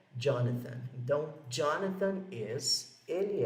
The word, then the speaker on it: Jonathan: E esse nome aqui dele, Jonathan, é pronunciado assim, não é Jonathan, é Jonathan, com esse TH aqui.